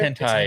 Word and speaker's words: hentai: Which was the right way? Henti is the right way.